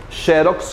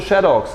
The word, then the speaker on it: xerox: Tanto faz você dizer, falar, eu estou falando oralmente, Xerox como Xerox. As duas formas são aceitas.